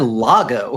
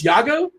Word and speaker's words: Iago: You said Lago. And it's Yago. It's Yago. Yeah. Okay. Well, how does it is it spelled with an L though? No, it's like I A G O or something.